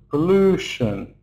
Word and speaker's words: pollution: So we can see the first syllable is short. It's just P p with the schwah sound. P. Then the second syllable is long because it's stressed. L pollution. Pollution. And the third third syllable is shun. Yes, P is aspirated. After P is awa sound and here in shun is a schwa sound.